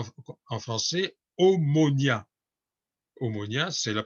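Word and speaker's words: Ομόνοια: qu'on appelle à vous en france et omonia omonia c'est la prononciation de chrome mono il ya longtemps dit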